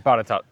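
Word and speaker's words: Botetourt: How do you think you actually pronounce it? Which one? It's Botatort in Gloucester. I mean Botatot.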